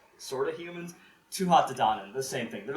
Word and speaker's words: Tuatha Dé Danann: Tuatha Dé Danann. I wrote it all phonetically, because it's all in Gaelic. Again, YouTube. Tuatha Dé Danann.